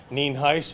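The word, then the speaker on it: Nienhuis: good evening I'm Hernando County Sheriff Al ninhaus for your records it's uh spelled n-i-e-n-h-u-i-s and it's pronounced Neen Heist and I have the fire chief with me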